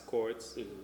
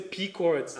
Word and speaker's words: Pchords: I'm on Facebook as Chords, Pchords. The P is silent. A lot of people say Pchords.